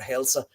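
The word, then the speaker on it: heill: that's the usage of the word hailsa. Always say hail. If you say it in Old Norse, it's Heil, and it's spelled Heil, or it's pronounced Hail.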